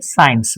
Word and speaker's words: science: How you say science? So C is silent but it should be written while writing.